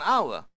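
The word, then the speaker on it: hour: 언 아워, 에치가 발음되지 않습니다. 아워, 그래서 언을 쓰게 됩니다.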